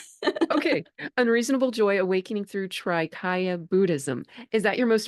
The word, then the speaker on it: trikaya: say correct Traya Traya oh my gosh no everybody does that it's I don't know why like we want to in English we want to like make the consonant go with the syllable but it's just Traya three bodies okay unreasonable Joy Awakening